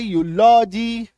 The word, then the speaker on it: eulogy: चलो नेक्स्ट देखो, अगर किसी शब्द में ईयू आए तो ईयू का भी उच्चारण यू होता है, और ये आपको मैक्सिमम